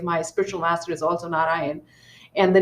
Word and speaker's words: Narayana: So it is not Narayanam, it is Na-Ra-Ya-Na. So think, there's four syllables: Na-Ra-Ya-Na.